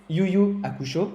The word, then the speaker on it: Yu Yu Hakusho: Vous faites aussi donc beaucoup de dessins animés, notamment un, Yu Yu Hakusho, je le prononce bien oui.